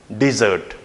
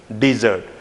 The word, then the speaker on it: dessert: So this is called and pronounced not dessert, okay? This is dessert, dessert, with the D sound here, D, dessert, all right?